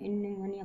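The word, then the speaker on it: pneumonia: निमोनिया हम लोग पहले पी इसमें साइलेंट रहता है, लेकिन हम लोग निमोनिया पढ़ते हैं।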